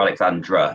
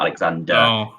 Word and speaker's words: Alexandra: just to correct yours it's crew alexandra not alexander it is something that